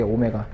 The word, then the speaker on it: 오메가: 자, 각 주파수는 우리가 뭐를 쓸 거냐면 오메가로 쓰겠다 이게 오메가. W가 아니라 얘를 오메가라고 읽어주면 오메가.